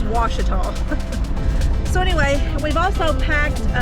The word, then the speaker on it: Ouachita: So if you're wondering how to pronounce that forest, it's Ouachita. A lot of people mispronounce that. They don't know. Of course, I can see why. It can be a little confusing, but especially if you hear the newscasters and stuff on the news, they mispronounce it all the time. There is a town somewhere called Ouachita, spelled W-A-S-H-I-T-A, but that's how you pronounce it, is Ouachita.